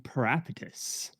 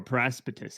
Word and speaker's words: Paraspatus: Hello, I will be playing Parapatus, or Paraspatus, as it should be, because that S is actually pronounced.